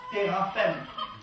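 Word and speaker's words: téraphim: écrit ici c'estàd que phonétiquement ça se prononce terraphè après vous pouvez prononcer comme vous voulez c'est juste en gu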